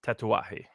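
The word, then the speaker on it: Tatuaje: the Miami operations it's spelled tattoos it's uh pronounced tatawahi okay and then there's another there's a two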